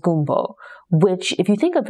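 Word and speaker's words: gombo: Something like okra, where the doctor explains that the French word for okra is G-O-M-B-O, pronounced gumbo, which, if you think of it, it's like the dish that we associate with New Orleans here in America, right?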